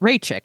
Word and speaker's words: Raichik: person name uh I wrote it down corre phonetically here for myself CH rayi yes that's right Ray chick I got it right that's who we're going